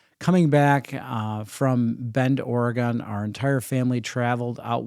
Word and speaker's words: Oregon: Bend Oregon for or it's called Oregon Oregon you got to pronounce it Oregon um that's what the locals say not Oregon Oregon so um my oldest